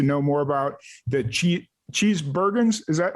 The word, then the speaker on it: Cheesebergens: and get to know more about the cheat cheese bergens is that how you pronounce it yeah yeah my last name is